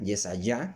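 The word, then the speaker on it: יְשַׁעְיָה: nuevo estamos leyendo Isaías vea yesaya que es como se pronuncia realmente ese ya es de yah al final y allá y todos los demás datos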